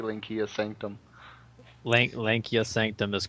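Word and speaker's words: Lancea: Lankia Sanctum is correct. Henry, you're wrong. Venture. I say Lancia Venture.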